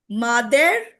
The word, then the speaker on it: mother: So here E is pronounced as ah. This is pronounced as the sound of U, Yes.